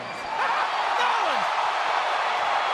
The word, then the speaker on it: New Orleans: Nolan! That's the correct way to pronounce it, if you're a Cajun.